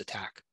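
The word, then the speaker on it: ATT&CK: acronym att and ck but it's pronounced attack this framework organizes and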